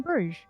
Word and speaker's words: Bruges: could actually be a how do you spell that BR you GES I mean takes place in that place I should say listen to Colin Farrell Sai in in Bruges as we all know they say in the movie that's how to say it yeah it's actually really